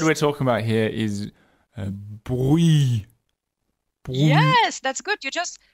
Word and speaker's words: Brouilly: No, it doesn't, because you are running into the infamous ILL sound in French, which is the sound Y, which is the sound that you find in Yahoo.